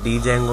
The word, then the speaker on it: Django: इसको जेंगो भी कहा जाता है, इसको डी जेंगो भी कहा जाता है, इस तरीके से मुख्तलिफ नाम इसको दिए जाते हैं।